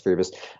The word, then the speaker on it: Priebus: or Priebus, I don't even know how it's pronounced, Priebus doing the Yeah, it's Priebus.